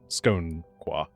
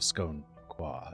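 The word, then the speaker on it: Skoan-Quah: Uh scone scone scone qua sk o n. Um he was the local leader of the scone qua.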